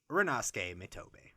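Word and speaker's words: Rinnosuke Mitobe: But, moving on to the starting center for Seiren High, it is the 6'1", 172-pound number 8 Rinosuke Mitobe. Ooh, perfect. You pronounced it perfectly.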